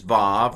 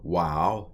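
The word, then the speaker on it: וו: here's the answers so this is VAV or wow depending on how you're pronouncing it yod kof final mem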